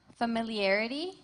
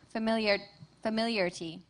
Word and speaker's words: familiarity: Your word has 2 pronunciations: familiarity, familiarity.